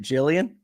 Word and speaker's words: Jillian: welcome to the show am I pronouncing your names correctly is that is it Jillian yes that is correct I love that I